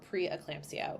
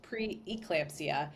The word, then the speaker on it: preeclampsia: an eye out for preclampsia which a lot of us pronounce as preclampsia myself included but if you specifically look it up it is preeclampsia and so they started